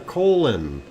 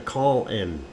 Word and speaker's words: Colin: to have a boss his name was spelled c-o-l-i-n and he pronounced it a colon okay and not a call in and that is the